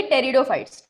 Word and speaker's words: Pteridophytes: तो आज हम पढ़ेंगे टेरिडोफाइट्स, ठीक है? तो पी है हमारा साइलेंट, राइट?